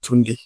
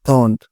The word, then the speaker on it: Tunde: He didn't pronounce it well. In Nigeria, we call it Tunde. He said turned.